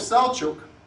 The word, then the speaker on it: Selçuk: Well, it has two syllables, Sel and Çuk.